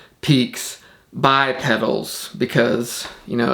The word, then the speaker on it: Peaks X Pedals: Probably didn't need to explain that, but it's spelled Peaks X Pedals, but it's pronounced Peaks by Pedals because, you know, it's good marketing to make your name more complicated than it needs to be.